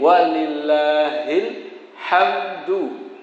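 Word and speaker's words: وَلِلَّهِ الْحَمْدُ: Allahu akbar willahil Nggih walillahil hamdu tulisannya Nggih nah ini membacanya kalau versi versi yang langsung biasa itu langsung hamdu ini huruf mimnya sudah sukun dalnya diwakafkan menjadi Qalqalah walillahilhamd Nah ada yang belajar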